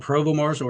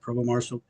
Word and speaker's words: Provost Marshal: it uh it's a it's called Provo Marshall it's pronounced Provo Marshall yeah we're trying to